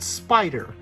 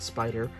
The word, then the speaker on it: SP//DR: It's called Spider. Now it's spelled SP//DR, but for years I didn't know how to pronounce it. I looked it up. It's just called Spider.